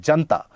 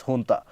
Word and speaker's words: junta: So here, the Myanmar junta, that is the military administration, it is not the Myanmar junta, it is pronounced as junta.